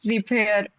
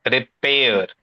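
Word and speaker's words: repair: अ इन प्रीपजीिशंस बिय्ड रिफेयर बिय्ड दोबारा बोलेंगे बिय्ड रिपेयर रिपेयर spelling बताओ आर ई पी ए आई आर रिपेयर रिफेयर नहीं रिपेयर see that's where pronunciation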